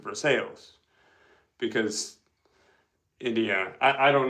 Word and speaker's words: Versailles: For example, in Indiana we have a Versail Indiana, but we don't pronounce it Versailles. pronounce it for sales because Indiana I I don't know.